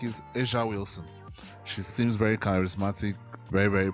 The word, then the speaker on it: A'ja Wilson: they've been calling her Asia Wilson. That is not pronounced AJ Wilson, it's pronounced Asia Wilson.